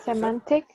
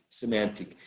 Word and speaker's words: semantic: okay all right excellent semantic in the second syllable yes excellent wonderful episodic semantic uh this is and